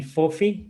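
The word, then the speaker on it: Fofi: because my name's not usually that easy to pronounce so exactly as a kid as a kid my cousins call me fophy f-o-f-i right which is a shortening of the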